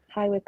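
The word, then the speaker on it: High Wycombe: so make sure it's an aquarius Rising I've rectified that okay and what's the location hi Wick in the UK say that again hi Wick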